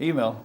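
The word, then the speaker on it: Eymael: Now, the manager, Luke Email, how do you pronounce it? Email.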